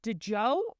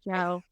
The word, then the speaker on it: Djo: it pronounced is it de Joe or Joe Joe I think he said it's just Joe just Joe the D is silent all right good to